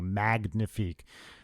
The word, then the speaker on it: Magnifique: Look under Trey Magnifique, and that's with a hard G, Magnifique. It's not pronounced like the French.